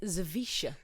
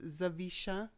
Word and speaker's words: Zawisza: It starts with a Z and it's Zawisza. Zawisza. It's a great name. So it's a Polish name and the W is pronounced as a V. So it's Zawisza.